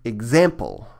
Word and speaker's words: example: So this word should be example with the stress here.